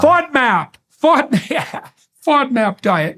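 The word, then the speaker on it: FODMAP: were called um there's one fad mop f is that right F diet fod map yeah fod map fod fod map diet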